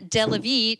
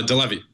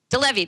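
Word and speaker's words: deLevie: joining us is Alan deie Alan am I pronouncing your name correctly close uh deevy deevy there we go uh Allan is with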